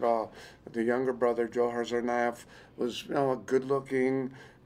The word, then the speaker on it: Tsarnaev: I can't pronounce their last name. Tsarnaev.